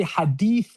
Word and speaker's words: hadith: So you would say hadith with a HADEETH. That's the closest transliteration.